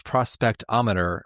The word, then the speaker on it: prospect-o-meter: Before we head out, we report back to Stefnivian, who confirms that his prospectometer points unerringly to the west. Prospectometer. It's prospect-o-meter. That is not how it's spelled.